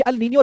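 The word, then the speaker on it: El Niño: Discuss करना था वो डिस्कस करना था about अल नीनियो एंड ला नीनिया। ये अल नीनियो ला नीनिया क्यों बोला जाता है? क्योंकि स्पेनिश वर्ड है तो वैसे तो आप इसे अल नीनियो ला नीनिया कह दीजिए, कोई दिक्कत नहीं है,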